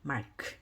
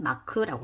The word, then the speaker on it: mark: 그래서 이거는 mark입니다. mark. 근데 우리는 마크라고 하죠. 마크. 예, 이거 빼버리고 마크라고 합니다.